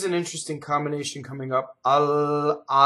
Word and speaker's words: alma: Alma. Notice that both L's are doubled because one L is just double L and the next L touches an M.